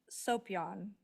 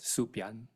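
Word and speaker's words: Soepyan: Dr William Hopper Gregory right Stone and Byron soan did I say that right it's actually pronounced suion suan thank you thank you and our own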